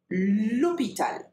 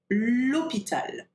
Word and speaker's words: hôpital: And then for hôpital, it doesn't have an H aspiré. We call it an H muet, okay? So you've got to say l'hôpital, l'hôpital.